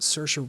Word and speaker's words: Saoirse: But something about Saoirse Ronan was just perfect.